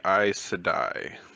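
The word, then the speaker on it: Aes Sedai: say that right um it would be i sedai but that was pretty close and i know how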